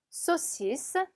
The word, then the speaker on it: saucisse: saucisse, saucisse. 자, 보면 아, 을 붙어서 오 발음 나고요. s 두 개 있으니까 스 발음이 나죠.